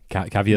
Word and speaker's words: Caviezel: But his name is he has an unpronounceable name. Okay, Jim Caviezel. Link. Caviezel.